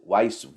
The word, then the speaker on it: Weisz: Rachel Weisz, or how do you pronounce her last name? Weisz.